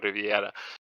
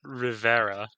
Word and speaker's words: Rivera: If you could find that joke, I'm still not used to calling you Santiago Riviera, but if you Oh, could, oh. You need to learn to pronounce that. Rivera. Rivera.